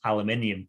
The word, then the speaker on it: aluminum: say aluminum rather than aluminium so um i've had to pronounce it the wrong way to begin with um but what would really bother me wrong the original pronunciation was aluminum sorry carryout but what would